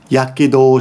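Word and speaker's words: 火傷: Yakedo, this together is pronounced yakedo. That's not usually how you pronounce that, but we just agreed, Japanese agree, that when you put these together, it will now be pronounced yakedo. It's kind of a forced pronunciation, but everyone kind of agreed on it.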